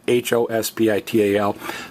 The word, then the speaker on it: hospital: It's spelled exactly the same, but notice the H is silent. It's spelled H-O-S-P-I-T-A-L, but it's pronounced hospital. Now, again, if you're wondering why we're stressing the last vowel on hospital, and if you're wondering